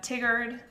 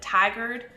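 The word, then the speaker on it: Tigard: into canvas cooch street for instance spelled couch pronounced cooch it's willamette not willamette uh there's a lot of little ones uh tiggered i when we first moved here i said tigered when we were actually in the city and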